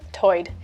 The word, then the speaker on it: tide: One interesting feature is that Lumbee English speakers share vowel sounds present in the Outer Banks accent, where tide is pronounced toid.